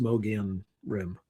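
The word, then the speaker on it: Mogollon Rim: So, the Moian Rim, it's like spelled M O G O L L O N, but it's it's pronounced Moian Rim.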